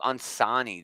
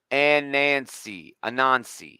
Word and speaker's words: Anansi: Static Team Up on Sani. This is pretty fucking cool, dude. Okay, or I'm sorry, Anansi.